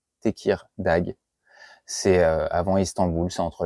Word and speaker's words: Tekirdağ: Alors la ville, je suis pas un pro de la prononciation turque, c'est Tekirdağ. Tekirdağ.